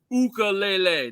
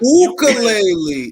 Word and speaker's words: ukulele: And remember, it's pronounced ukulele, not ukulele. That's the Hawaiian pronunciation, and it's not boxing related.